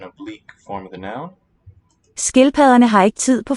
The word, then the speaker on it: skildpadderne: Skildpadderne. Double D is the fricative.